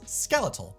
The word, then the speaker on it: skeletal: In America, this is skeletal, pronounced just like skeleton.